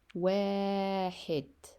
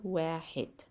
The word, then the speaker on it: واحد: ستتعلمون كيف تنطقون الأرقام بالعربية. عندنا 1, right? This is 1 in English, but in Arabic واحد حرف الواو ألف حاء دال واحد. I wrote it here واحد. Repeat again واحد.